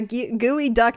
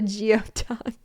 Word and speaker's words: geoduck: It's a gooey duck, not a geode duck.